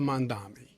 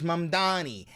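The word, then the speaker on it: Mamdani: You still can't say his name right. Oh my god. Name would be Mr. Mandami. For the name is Mandani. M A N D A N I.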